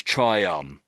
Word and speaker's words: triumph: So triumph, but it's like an F sound on the end.